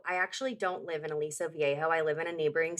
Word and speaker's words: Aliso Viejo: In Aliso Viejo.